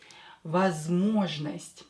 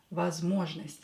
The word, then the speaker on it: Возможность: Возможность. Yeah. Возможность. So this one is not stressed, this one is not stressed, so pronounce them as A.